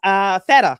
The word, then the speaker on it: Theta: It is Theta, correct? Yeah. Yay!